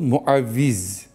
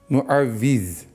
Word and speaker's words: muavviz: adına Yaptık onu ama sure-i mülkün adı muavviz muavviz böyle hani telaffuz ediyorum hani hoca hiç Arapça bilmiyor demeyin diye koruyan demek ya